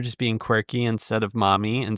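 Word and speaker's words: Marmee: Maybe you should start calling your mother Marmy and she says The thing is they would never pronounce the R. So maybe it is just mommy.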